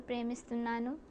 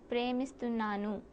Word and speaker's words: ప్రేమిస్తున్నాను: So, can you try to say నేను నిన్ను ప్రేమిస్తున్నాను? Pardon? నేను Ninu? నిన్ను Ninu? ప్రేమిస్తున్నాను. Premistunanu?